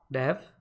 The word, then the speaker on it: Dev: It is pronounced Dev as in game Dev.